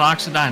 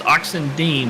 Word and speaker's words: Oxendine: owner of the 63 not oxidyne it's oxendine thank you so much